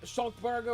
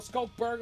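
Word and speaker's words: Schalk Burger: Losing a player like Schalkberger, or Skalkberger, I should probably say his name properly.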